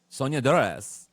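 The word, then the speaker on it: Soñadoras: How do I pronounce it, Michael? Oh, say it. Sonia Dores.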